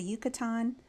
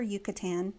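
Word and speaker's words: Yucatán: Canal lived with his family about 3,000 years ago in an area that is now called the Yucatan or Yucatan Peninsula. You can pronounce it either way.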